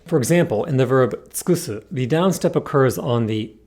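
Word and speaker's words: 尽くす: Now, because the second u here is between a k and an s, it should get devoiced, but again, it's okay to pronounce it as tsukusu because the downstep falls here.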